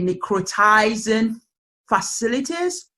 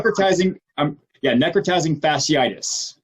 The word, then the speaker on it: necrotizing fasciitis: I think it's known as and please correct me if I don't say it correctly, necrotizing facilities. Tell me more. Necrotizing fasciitis. Necrotizing fasciitis. Fasciitis. Okay.